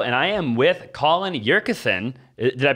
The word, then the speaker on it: Yurcisin: Austin Zabak here with another video, and I am with Colin Yurcisin. Did I pronounce that right?